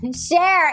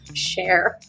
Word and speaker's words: Cher: Her name rhymes with hair. I love you so much. Thank you so much. Olivia, thank you so much for these hints. Cher, if I could turn back time, I would.